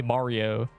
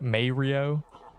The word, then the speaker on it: Mario: It's a me Mario. You can't. This is not a good example. If you mispronounce Mario, you're just ignoring the man saying it. My grandma says Mario. Mayo.